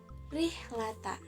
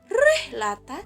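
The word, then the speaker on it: رحلة: bukan Rohman tapi ar-rahman Nah tarqiq itu dibaca tipis jadi apabila rok berharokat kasroh Hai contohnya rihlata disitu Jadi bukan rehlata tapi rihlata jadi lebih lembut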